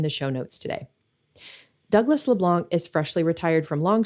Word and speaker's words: LeBlanc: And yes, it's Leblanc. Don't pronounce the C.